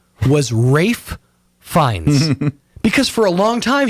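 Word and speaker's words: Ralph Fiennes: adulthood I thought that Ralph finds name was Rafe fines because for a long time he was going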